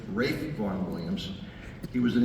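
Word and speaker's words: Ralph: it was written by a gentleman name is pronounced Rafe Rafe Von Williams he was an English composer wrote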